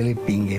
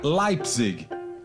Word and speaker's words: Leipzig: Para a professora Simone, todo mundo pronunciava de forma errada o sobrenome de Adolfo. O correto seria Leipzig.